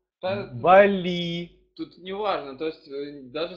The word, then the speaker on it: Бали: так так смотрю а правильно говорить Бали с ударением на первый слог Бали тут неважно То есть